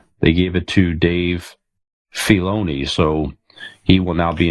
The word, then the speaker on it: Filoni: It's Filoni. Yeah, Filoni? It's the I is not pronounced.